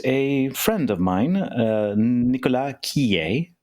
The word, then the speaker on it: Quillé: I would love to introduce a friend of mine, Nicolas Quillé. Nicolas, if those of you who don't want to go down the French pronunciation, Quillé.